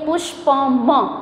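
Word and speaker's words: पुष्पम्: म के नीचे जो ये लाइन दिख रही है आपको इसका मतलब ये है कि ये वाला जो अक्षर है ये वाला जो लेटर है वो थोड़ा आधा है क्योंकि इसके पीछे हम जो प्रोनाउंसिएशन बोलते हैं अ ये भी कंप्लीट नहीं हुआ है, ठीक है. तो इसलिए पुष्पम.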